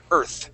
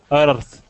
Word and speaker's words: Earth: Earth okay we're going to stick our tongue right between our teeth Earth try that one more time Earth Earth okay all right let's control your tongue a little bit you don't want to roll your R okay you want to